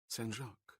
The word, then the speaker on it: Saint: "Sen," she completed, using the French pronunciation of saint.